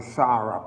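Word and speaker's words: צרף: It's like you're saying S, but it's ST. It's like a STZ together. Sarap. That's what the pronunciation of it. And It is Sadie, Resh, and Pay.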